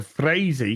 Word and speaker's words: Frazee: It's Peter Frazee because he's even got a phonetic pronunciation next to it.